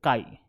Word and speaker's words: chi: this is the symbol that is the symbol Chi is how you pronounce it why do you care I will